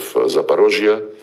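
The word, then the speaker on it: Запорожье: rejoin with Russia and when we now liberate remaining parts of Zaparosia. This is the Russian way to pronounce it.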